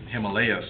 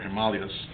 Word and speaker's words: Himalayas: And in the middle you have the Himalayas, or Himalayas, if you prefer to pronounce it that way.